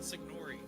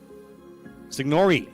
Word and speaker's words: Signori: Yeah, Signori. Signori. The E is pronounced.